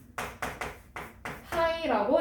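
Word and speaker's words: π: 그리고 얘는 이렇게 쓰고 파이라고 읽어요. 뭐라고? 파이.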